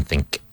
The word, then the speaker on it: think: Now make sure you pronounce the K in think.